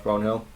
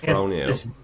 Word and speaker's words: Brownhill: Did you call him Josh Brownhill? Brownhill. Alright. Brownhill. I was putting on the Burnley accent. Brownhill. Don't pronounce the H.